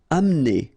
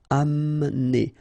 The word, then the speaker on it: amener: Amener. Don't insist on the E here because you don't really pronounce it. Amener. Amener.